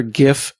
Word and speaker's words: GIF: of the GIF people I'm a gif person found you Scott we need to stick together because there are some cool gift people out there these hard G people just mean including the invent including the inventor of the format which is also wrong I know oh my